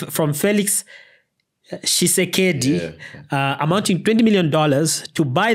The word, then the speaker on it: Tshisekedi: The pronunciation is Tshisekedi. From Felix Tshisekedi, amounting $20 million to buy the country's silence on corruption.